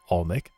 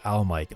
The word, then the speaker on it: Almik: So how do you pronounce your name? Almik. Though I hear Almike a lot. So Almik, yeah, just like that.